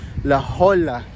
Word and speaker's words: La Jolla: what's up I'm at La HOA laa I think I I think that's how you pronounce it laola Cove you know nice